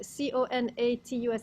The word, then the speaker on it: conatus: it's there it's connatus c-o-n-a-t-u-s is a it's a latin word that spinoza uses which i don't know how you americans pronounce it but in the latin it's something like conatus so doesn't matter it's